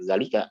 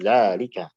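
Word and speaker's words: ذٰلِكَ: pula contoh seperti apa dzalika tulisannya pendek tapi bacaannya bukan Zalika tapi Zalika jadi seakan-akan begitu ada secara pengucapan tapi tidak ada secara tulisan bagaimana kita mengetahui di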